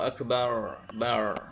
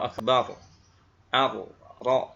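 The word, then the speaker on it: أكبر: Jadi membaca Allahu Akbar, bar, ya. Sedangkan yang betul adalah Allahu Akbar, ro, ya, akbar, bukan akbar.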